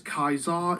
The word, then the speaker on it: Caesar: I think it's Caesar. Wrong, sir. Wrong. which is completely false because Kaisar is how Caesar was originally pronounced in Latin.